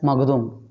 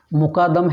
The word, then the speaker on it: Mukadam: It became wrongly pronounced as Magdum. Magdum. This surname is connected to Jain, Maratha, Lingaites, and some other backward communities also. Mukadam has become Magdum.